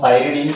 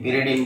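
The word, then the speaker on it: pyridine: ये है, इसको हम पायरिडीन कहेंगे। क्या कहेंगे? पायरिडीन।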